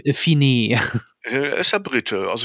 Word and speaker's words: Fiennes: Spricht man Ralph Fiennes hinaus, ja, oder ist das Fiennes. Ralph Fiennes?